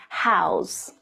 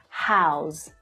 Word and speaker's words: how's: native English speakers would house house so notice how the letter S is pronounced as the voiced sound right next trick when